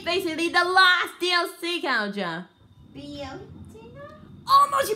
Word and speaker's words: Bayonetta: Bayonetta? Almost, you pronounced it right! Bayonetta!